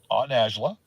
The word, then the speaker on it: Najla: Najla, who was my aunt Najla, is the way you pronounce her name.